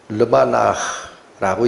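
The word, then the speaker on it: לבנה: 이건 발음으로 가야 의미가 되니까.이 달을 달이라고 얘기하는이 히브리어가 르바나라고 읽히는 단어입니다. 발음만 잠깐 기억하세요. 어떻게 읽는다? 르바나.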